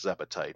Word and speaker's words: Zebetite: And I usually often refer to those with the full 3 syllables, Zebetite, because Zebs are another enemy in the game.